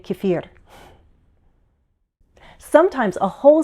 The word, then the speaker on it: kefir: The dictionary shows 3 variations: kefir, kefir, kefir. I think my pronunciation has been influenced by Russian, so I tend to say kefir.